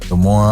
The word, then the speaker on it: Des Moines: Des Moines, Iowa.